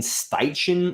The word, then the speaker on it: Steichen: interviewed or interested in Shane steichen I think that's how you say his name s-t-e-i-c-h-e-n uh there's also reports